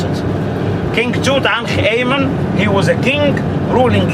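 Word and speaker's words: Tutankhamen: how the ancient egyptian people write it and pronounce it king tutankh amen he was a king ruling egypt for only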